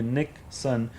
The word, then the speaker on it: Nikson: personally, like like direct, they'll call me Nick Sun. And it's not like spelling the same as Nixon uh like the president, but it's Nick. My name is spelled as Nikki. It's Nick, short for Nikolai. And then son is son of Nick because I'm Nick Nick.